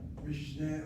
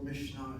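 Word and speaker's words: Mishnah: The Mishna Mishn or Mishna there are two pronunciations. Mishn is one way of saying it or Mishna is another way of saying it.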